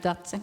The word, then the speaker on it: Dace: Dace, est-ce que c'est comme ça qu'on prononce? Dace Melbārde. Right, Dace.